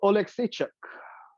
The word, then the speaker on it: Oleksiejczuk: How do you pronounce his last name? Mikhail Oleksiejczuk.